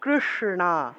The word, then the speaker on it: কৃষ্ণ: রফলাটা স্পষ্ট উচ্চারণ করতে হবে রফলা শ্রী শ্রী কৃষ্ণ মূর্ধন উচ্চারণ হল জিউভা উল্টে স উচ্চারণ করতে হবে